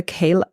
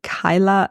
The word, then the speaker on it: Kyla: all the sleeves called the KLA the I keep saying it wrong it's the Kyla sweater a beautiful striped pattern